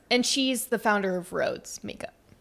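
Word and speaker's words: Rhode: And but she's and she's the founder of Roads Makeup. Yes, that's how you say it. I thought it was Roadie this whole time.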